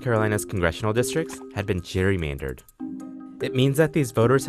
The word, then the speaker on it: gerrymander: And over time, the word gerrymander came to be pronounced with a soft G, as in Jerry, the pronunciation we use today.